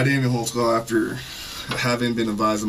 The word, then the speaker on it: Holtzclaw: I'll let your name there, because I don't even know how to spell it. How do you say your name? Daniel Holtzclaw.